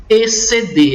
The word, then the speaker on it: exceder: Só que na palavra exceder, você observa que o X e o C, eles têm o mesmo som. É o som C, exceder. É como se eu tivesse apenas um C e não um X.